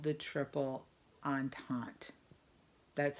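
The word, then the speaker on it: entente: Great Britain rush they are called the triple on tante that's how that word is pronounced on tot say it out loud nobody's gonna listen on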